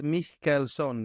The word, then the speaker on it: Mihkelson: special guest today mson did I say your last name right uh so and so so and so so this guy yeah it's Mel son the HK you can't pronounce okay I have to